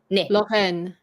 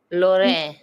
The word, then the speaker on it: Lorraine: but it's So it's Actually, this is a separate syllable. The NE is a separate syllable. So you don't. Oh, but then isn't it AIN? Isn't it the AIN here? It is, but in this word, it's actually LOR is, well, LO is the one syllable, RAI is one syllable, and NE is the last syllable.